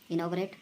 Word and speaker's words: inaugurate: अगला है इनॉग्रेट, इनॉग्रेट बोला जाएगा, स्पेलिंग INAUGURATE, इनोग्रेट। अगला है अरेंजमेंट, ये आउटलाइन आपको मतलब थोड़ी शॉर्ट है।